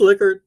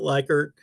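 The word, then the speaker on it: Likert: Um it is liquor, not liker.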